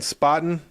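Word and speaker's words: Spaten: beer I gotta say right now I'm drinking spotting that's spelled s-p-a-t-e-n it's uh for y'all who don't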